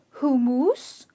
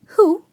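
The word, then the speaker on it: hummus: a lot of people end up calling it hu-muse or hum -muse but I must tell you the pronunciation is a little tricky pay attention its hoo-mas ok it hoo as in the "U" is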